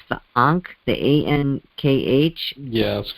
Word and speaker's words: ankh: be is it i don't know how you pronounce this but it's the ankh the a-n-k-h yeah that's correct right which represents